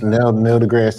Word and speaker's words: Neil deGrasse: Nice Neil deGrasse Tyson.